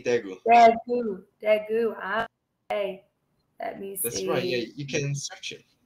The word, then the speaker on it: Daegu: How do you say Daegu? Daegu. We say Daegu.